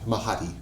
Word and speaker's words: Mahadi: this great place uh spell it m a h a d i d i yeah m a h a DI mahti got it that's mahti mahti I had to ruin